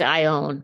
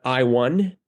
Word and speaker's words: Ione: I'm not sure how you pronounce that. It's I own. I It's own Sky. it's not I won.